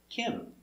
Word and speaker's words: him: And remember, when you have that H for him and her, the H is silent. So it's ask him. No, ask him. Ask him. So no H, Kim.